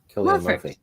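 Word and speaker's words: Cillian: Is this his name pronounced Killian Murphy? Yeah, Killian.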